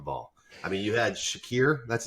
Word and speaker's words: Shakir: they dropped the ball I mean you had Shakir that's how you say his name in the